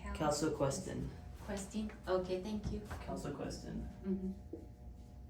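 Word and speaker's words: calsequestrin: Calciquintin. Yes, the calciquintin. Can you pronounce this? How do you pronounce it? Oops. Yeah, it's number 3. Calciquestin.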